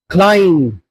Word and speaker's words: climb: Climb not climb. In all these words, MB's alphabetical structure comes. But B is silent.